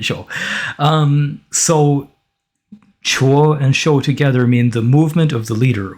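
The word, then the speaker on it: 辶: running there right so this character um it's pronounced Chu so chuo means to carry from one place to another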